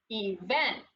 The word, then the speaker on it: event: one he vent event you hear I'm putting the emphasis or the on the second syllable event so we tried event